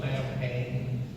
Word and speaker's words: Samhain: Yeah, and Dan O'Hurley taught us that the actual pronunciation is Samhain.